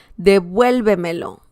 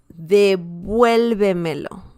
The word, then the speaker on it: devuélvemelo: And the next one here is pretty much the same. 1, 2, 3, 4. Yeah. Devuélvemelo. Devuélvemelo. Okay. Devuélvemelo. Devuélvemelo. Yeah. They're hard to pronounce. I know. That means give it back. Okay. Give it back. Whatever it is. Devuélvemelo. And yeah, we can see the stress right there.